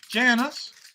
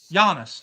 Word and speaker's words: Giannis: Everybody gets Janice gets 2700 epics. Yeah, man. Giannis. Giannis. Let me say it properly.